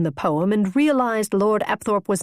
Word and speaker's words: Apthorp: "It's Apthorp, darling, but I must admit I like your version better.